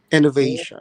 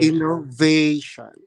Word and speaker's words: innovation: Innovation. Innovation, long A, Innovation. perfect. The third syllable is that long A sound.